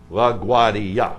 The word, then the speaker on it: LaGuardia: I was in the financial district, and I get into a cab, and I say, LaGuardia. LaGuardia, four syllables.